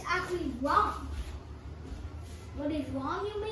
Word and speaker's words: Ram: The 29th letter is not tar, it's actually rom. What is rom, you may ask? Rom, like R-A-M. It's pronounced wrong.